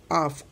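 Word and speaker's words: half: देखो आफ अह आ हुआ कि नहीं हुआ, इसमें आ का उच्चारण आफ आफ, बराबर।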